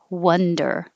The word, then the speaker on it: wonder: It's wa, like boss, wander. And 18 is up, wonder. I was wondering if you could go to lunch. Wonder, wonder. 17, wander, wander, wonder. Very similar, I know, but you have to open a lot for wa. Wander, wonder. You don't have to open hardly at all. Wonder.